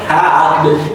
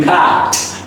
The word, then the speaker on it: packed: So the final D would be pronounced like a soft T. It's not packed, it would be packed. It would sound like packed.